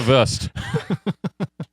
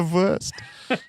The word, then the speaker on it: Wurst: the worst but it's spelled like BR worst exactly yeah it's German flavor I like that you're the ver you are the ver I don't think it